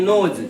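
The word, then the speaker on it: know: और पोस्ट में डाल दिए बेटा एस यानी नोज। ठीक है? इस के को साइलेंट कर देते हैं।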